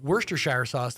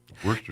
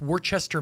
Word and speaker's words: Worcester: It's wor If you look at it, it's like uh the same thing with Worchester, Maine. You know, I've always that's what I've called it for most of my life. And they're like, "It's Worcester."